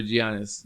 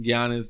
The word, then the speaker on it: Giannis: he could go over giannis janice is hungry i don't know if i pronounce his name right giannis giannis giannis yeah greek or something right yeah yeah it's like a y the greek freak the